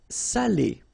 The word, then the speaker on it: salé: So if you don't put the accent, it means dirty, and then you pronounce it sale. But in that case here, okay, you put the accent, and it's quite important because in that case it means salted, okay?